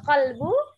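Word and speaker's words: قلب: anjing pencuri itu tuh hati-hati antara al-qolbu sama alqolbu kalau alqolbu anjing kalau qalbu hati-hati nanti berarti harus berhati-hati antar pengucapan kalbu sama qalbu ya karena artinya jauh sangat jauh kemudian alam tahu Ayah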